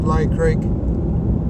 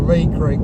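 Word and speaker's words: Leigh Creek: area we're passing through at the moment is Lay Creek coldfield or Lee Creek as it's pronounced I've moved a lot of or out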